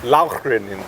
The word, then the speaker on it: Lauchringen: moved it to, you pronounce the name of the city, Lauchringen. Lauchringen.